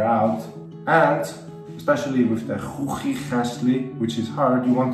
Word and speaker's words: Chuchichäschli: It's like you clear your throat, so Ch, Ch, Ch, okay?